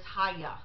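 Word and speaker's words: היה: well first of all the Hebrew word is haigha that's how it's pronounced spelled ahay aah and when you look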